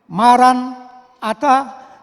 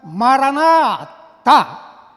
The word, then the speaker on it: Maranatha: Jadi kalau diucapkan, ya, diucapkan maran ata berarti datanglah, nah, Tuhan pasti akan datang. Atau diucapkan maranatha, Tuhan kami datanglah.